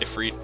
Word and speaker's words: Ifrit: it's felt with eyes instead of ease it's pronounced if read so it's the same kind of lore same